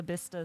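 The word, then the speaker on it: Bicester: Actually, doesn't matter that it's spelled the same way." Um, I also love the whole like Worcester Leester Bista situation.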